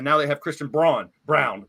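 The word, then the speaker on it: Braun: they have Christian Brun Brown which is pronounced Brown the same way and he's he's stepping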